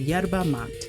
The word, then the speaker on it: yerba mate: And they suggested the yerba mate. They said yerba mate. That's how they pronounced it.